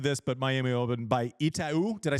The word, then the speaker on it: Itaú: Obviously, tennis-centric crowd who's listening to this, but Miami Open by Itaú. Did I say it right? Itaú, yes.